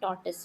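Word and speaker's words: tortoise: यहां पे जैसे बट इसका एक्चुअल प्रोनाउंसिएशन टॉर्टिस होता है। अब ये इट्स नॉट अबाउट एक्सेंट। ये ऐसे ही प्रोनाउंस किया जाता है।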